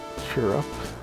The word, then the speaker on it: Chirrup: No more chirrup sandals. Chirrup, cheer up. And they spell it chirrup, but I guess it's supposed to be like cheer up.